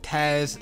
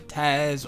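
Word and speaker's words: Taaz: So 1976, Teddy Pendergrass had a girlfriend named Taz Lang. Now it's spelled T-A-A-Z, so I hope I'm pronouncing it correctly, Taz or Taz Lang.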